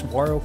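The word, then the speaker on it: saguaro: noticed that we are surrounded by those famous swaro cactus we first found down in Baja Mexico some years ago that's right I pronounced it right this time and speaking of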